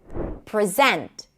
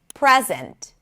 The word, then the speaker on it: present: If it's a verb, the stress is going to be on the second syllable. Present. If it's a noun, the stress is going to be on the first syllable. Present.